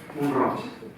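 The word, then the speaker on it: Mont-roig: Comment est-ce qu'on prononce Moril ? Monro. Monroc.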